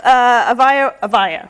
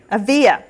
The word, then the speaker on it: Avia: Their mobile app, Avaya, right? Avia. See, it's the syllable thing.